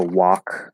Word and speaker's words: walk: Also walk, where the AL is silent, just like the W is silent in saw.